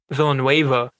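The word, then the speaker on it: Villeneuve: movie dune that's coming out with dennis villanue villanueva i think is how you say his name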